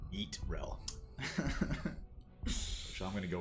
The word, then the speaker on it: Yrel: I believe Chips with Salsa said it's currently pronounced Yeetrel.